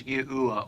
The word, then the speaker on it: Yahuwah: Koine Greek, and Hebrew, all of which point to the phonetic sounding of God's sacred name as Yahuwah or Yahu.